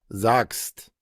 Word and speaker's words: sagst: Acá tenemos una CH que hemos dicho que se pronuncia como una G Y aquí tenemos una G que en este caso la vamos a pronunciar como una K.